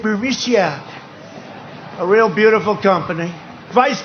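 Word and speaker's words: Burisma: with the burmese executives so this uh burmesia bermusia they say pronounce it berisia a real beautiful company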